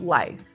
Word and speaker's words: LYF: And so in alignment with my name, I have created an acronym called LYF, Love Yourself First, which is pronounced life.